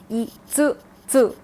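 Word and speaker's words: 五つ: Please note that this is a full tsu and not a small tsu like we have been seeing so far. It has to be pronounced itsutsu.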